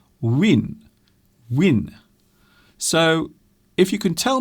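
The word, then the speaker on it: Nguyễn: always get wrong because I don't think you pronounce a juin like that now I read somewhere that you actually pronounce it win-win so if you can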